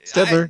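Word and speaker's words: Staedtler: Stedler? Is that how you say that name? Stedler, yep.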